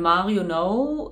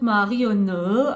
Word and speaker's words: Marionnaud: ein Monat her von Mario no nee das wird anders ausgesprochen hy ja manche Zuschauer haben sich immer so bisschen pieselig mit so wie man Sachen so ausspricht das wird es ja Französisch und das wird Mario ne ausgesprochen Leute ganz ehrlich mir